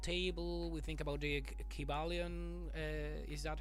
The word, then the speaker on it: Kybalion: We think about the Kybalion. Is that how you pronounce it? Kybalion.